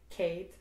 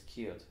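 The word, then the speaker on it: céad: How would you say? Kate. In Munster, it's keeled.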